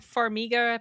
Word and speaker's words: Farmiga: I liked it I like the way Vera Farmiga that's how you say her name the way